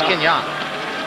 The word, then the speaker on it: Kenyon: Well, because he came over to us and said, now, my name is pronounced Kenyon. Yeah. Said some announcer announced it Kenyon. My mother went up and told the PA announcer, knock it off. It's Kenyon.